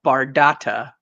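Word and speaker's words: Bardotta: name of the character the blade of bardata which rhymes with Don Dada ironically enough so uh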